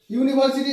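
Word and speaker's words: university: ইউনিভার্সিটি, এটা উচ্চারণটি কি হচ্ছে? ইউ, এই শব্দটা শুরু হচ্ছে কি উচ্চারণ দিয়ে ইউ, তাহলে ইউ শব্দ দিয়ে শুরু মানে ইউ উচ্চারণ দিয়ে শুরু হলে সেই শব্দটাকে কি বসবে এ বসবে।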